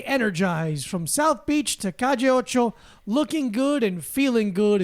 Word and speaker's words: Calle Ocho: No, 2 L's is a J. Well, it's a J. It's a Yeah. Y. Calle. It's Calle.